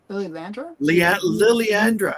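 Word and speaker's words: Lilandra: How do you say her name? Lily Landra? Liliandra, I believe. Yeah. Okay. So I think you had it right. It's because there's an apostrophe in there somewhere.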